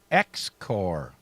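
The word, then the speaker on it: XCOR: And in 2005, X-Core, spelled just how you say it, X-C-O-R, X-Core Aerospace makes the first manned rocket aircraft delivery of U.S.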